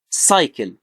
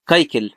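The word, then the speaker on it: cycle: سايكل، ما بقولش كايكل، لا بقول ايه سايكل. تمام. ليه؟ لان جه بعد السي واي.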